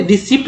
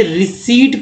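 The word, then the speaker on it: receipt: तो इसे रिसिप्ट ना पढ़ें बल्कि इसे रिसीट पढ़ें, रिसीट को साइलेंट कर दिए, रिसीट, ठीक है।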